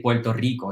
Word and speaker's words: Puerto Rico: but we actually say puerto rico so the first one we say as an l the second one has a normal r so it really depends